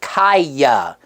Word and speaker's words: Kiya: we had settled that her name is pronounced kiyah the sound made when kicking and punching is usually key yeah I suppose you